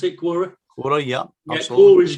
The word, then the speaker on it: Quora: Quora, is that how you pronounce it? Quora.